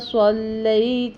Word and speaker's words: صلی: غنہ بھی کریں گے، صلی پڑھیں گے، صاد پڑھیں گے، سلی نہیں پڑھیں گے، علی عین ادا